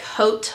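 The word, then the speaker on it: haute: It's called the Hot Iron Spray, but it's spelled like H-A-U-T-E or like Hote, whatever.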